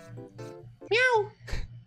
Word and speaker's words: Mea: E eles não falam não, Meia, eles falam não. Mia. Miau. Nossa senhora. Humor, né? Você falou e aí ficou aqui. Caralho. Mas a pronúncia certa é Mia.